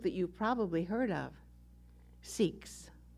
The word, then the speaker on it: Sikhs: you've probably heard of seeks yes yes the the spiritual tradition is called sikhism that is the correct way to say it and those who practice sikhism are called sikhs s-i-k-h-s in the book that